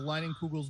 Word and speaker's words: Leinenkugel's: It's a Leinenkugel's beer. Yeah, absolutely. I think you pronounced that correctly.